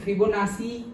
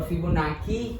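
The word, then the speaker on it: Fibonacci: हाँ द 14th फिबोनाची और फिबोनाकी, okay और फिबोनाची अलग अलग प्रोनाउंसिएशन करते हैं, फिबोनाची फिबोनाची भी करते हैं।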